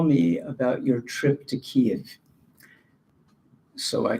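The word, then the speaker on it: Kiev: about your trip to keev so I called him and I said what trip to ke in those days we pronounced it Kev he said well you're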